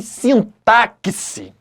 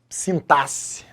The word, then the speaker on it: sintaxe: Tem aluno que chega assim, professor, eu tô com uma dúvida em sintaxe. Errado. Tem outros que falam assim, professor, eu tô com dúvida em sintaxe. Igualmente errado. Se pronuncia sintaxe, ok?